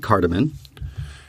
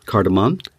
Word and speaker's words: cardamom: so kind I added cardamon okay that's not how it's pronounced cardamom card a mum like your mom yeah cardamom cardamom yeah